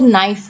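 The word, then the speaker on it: knife: अब जैसे अगर इंग्लिश की बात करूं तो नाइफ है, ठीक है, नाइफ मतलब चाकू, तो उसको नाइफ बोल रहे हैं वैसे तो हम, लेकिन उसका शुरुआत में के आता है, लेकिन वो साइलेंट हो जाता है, ठीक है।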